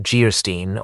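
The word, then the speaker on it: Geierstein: Anne of Guystein pronounced Geerstein or the maiden of the mist by the author of Waverly.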